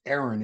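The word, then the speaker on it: Eiren: in Toronto in 2021 I believe he pronounces Aaron it's E.I r-e-n golly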